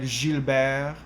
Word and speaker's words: Gilbert: and then also with a word like gilbert um the t i also don't pronounce when i was in